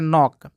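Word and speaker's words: knock: यहाँ देखिए नॉक है तो पहले के है, उसके बाद तुरंत एन आ गया है तो के साइलेंट हो जाएगा, इसको पहले नॉक।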